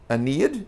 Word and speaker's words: Aeneid: to Virgil the Roman writer who wrote the Aeneid am I saying that correct yep finally yes I have pronounced it correctly yeah for now uh but